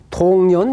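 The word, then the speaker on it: 洞然: 차별만 놓아버린다면 단막 정의하면은 통년 면백하리라. 이거는 무슨 동 할 때는 동이라 발음하지만은 확 뚫린다 이럴 때는 통이라고 이야기합니다. 그래서 통년 그러면은 확 터져버린 것을 통년, 통년 명백하리라.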